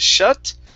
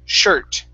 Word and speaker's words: shirt: with the r okay you need to curve your tongue up just a bit instead of shut it's sure shirt shirt shut there you